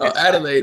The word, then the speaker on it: Adelaide: That's how you pronounce it, if I'm not mistaken. It's Adelaide.